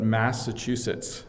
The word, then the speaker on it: Massachusetts: because there's local pronunciations of different things but Massachusetts is how I would pronounce it that's a great one gerver put